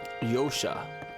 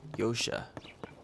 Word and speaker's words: Josha: challenge foreign yosha ah the J is silent yosha think well did you